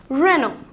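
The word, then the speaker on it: Renault: UL t it's me l or t doneghy silent letters head and it's SP announcer reno reno reno coming to our next car run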